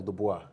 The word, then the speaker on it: Dubois: El Dubois. El Dubois. Yeah. El It's Dubois French. is French. Yeah, Dubois is French, yeah.